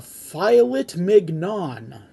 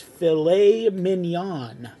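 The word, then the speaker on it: filet mignon: Martha I think I'll have the filet mnan Martha says that's pronounced filet minan Grinch says what is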